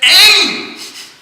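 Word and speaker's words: Aiṃ: Saraswati came and said Aim so that was the example that the Brahman goil explain to David dut that he didn't pronounce the Mantra completely it was aim and he was saying I so but still because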